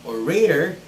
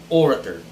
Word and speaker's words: orator: the next word is it's not orator but it is orator it's orator an orator is somebody